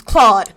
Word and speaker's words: Clyde: But you say his name is Claude. It Inconsistency is is Clyde. not something that I wouldn't have. Yeah, so we're going with Claude spelt like Clyde, and the boy genius can't spell apparently.